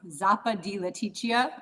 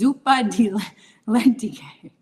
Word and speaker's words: zuppa di lenticchie: Zappa di lenticchia. I like how you say it, but I don't know what that means. It's zuppa di lenticchie.